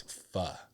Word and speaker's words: pho: It's just tough because it looks like it's pronounced faux, but it's pho. So it's hard to rhyme with pho.